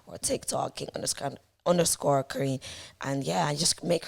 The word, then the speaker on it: Karine: that's how I grew up everyone called me Karen but my name is actually pronounced Korean so in the UK everyone calls me Karine but either or is absolutely fine I'm a